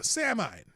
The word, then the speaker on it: Samhain: Samhain, it's pronounced Samhain.